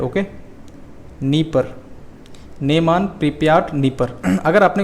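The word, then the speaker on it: Dnieper: साथ ही यहाँ की 3 प्रमुख नदियाँ हैं, नीमान, प्रिप्याट और आपकी तीसरी है नीपर, DNIPER। ठीक है, यहाँ पर डी साइलेंट है। ओके, नीपर, नेमान, प्रिप्याट, नीपर।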